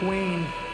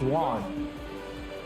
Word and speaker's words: Juan: And so Mike Wayne, I say Wayne, but it's Juan. The right way to say his name is Mike Juan.